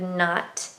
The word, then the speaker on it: knot: This kind of not, and it's pronounced not. So you can't hear the K. The K is silent.